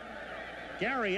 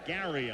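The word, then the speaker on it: Gerry: Gary Ellis, and that is the way he pronounces it, even though he spells it G-E-R-R-Y. It's Gary Ellis, and he's been here for 7 years now.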